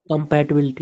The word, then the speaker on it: compatibility: have I think compatibility compatibility yeah compatibility compatibility should uh compatibility should ideally be on bill right so you have compatibility